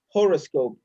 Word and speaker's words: horoscope: Horoscope.